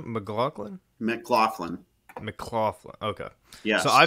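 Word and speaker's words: McLaughlin: how do you say his last name mlin mcclaflin mcclaflin okay yes so I feel I feel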